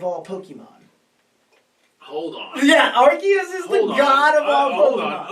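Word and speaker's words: Arceus: time thing called Pokemon archus and I'm saying archus against my better judgment because I want to say arus because that's how I would pronounce it when I read it but but they introduce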